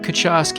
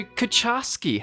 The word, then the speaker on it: Kucharski: So Kucharski, is that how do you say your surname? So that's how we say it phonetically. The Polish pronunciation's slightly different, but it actually translates as cook.